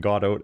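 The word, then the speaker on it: Godot: well, pronounce that however you like press and it's usually pronounced like in the play.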